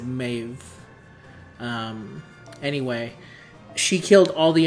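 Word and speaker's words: Medb: Maeve met him as she spelled in the game ME ME DB but you bill you pronounce it Maeve anyway she killed all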